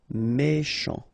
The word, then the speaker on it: méchant: Méchant, final T not pronounced, C-H together, sh, méchant, méchant.